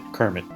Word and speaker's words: CIRMMT: We like to pronounce it Kermit.